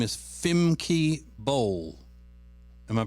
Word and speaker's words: Femke Bol: And her name is Femke Bol. Am I pronouncing it correctly? That's correct. Femke Bol.